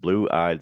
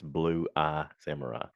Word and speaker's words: Blue Eye Samurai: animated series it's called blueeyed samurai blueee samurai I've been saying it wrong I've been pronouncing it past tense with like blue ey it's bluee Samurai so bluee Samurai um here's the rundown